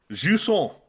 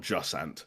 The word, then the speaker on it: Jusant: Jusant. I'm gonna give it its official French pronunciation. It's not Jusant, for as much as I love it to be.